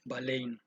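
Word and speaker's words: βάλλειν: y la parte de un verbo en griego que se pronuncia valen ya tú puedes ver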